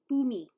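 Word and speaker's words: Bumi: I'll let that slide, but Boomy's actually spelt with like B-U-M-I. Boomy. Like Japanese.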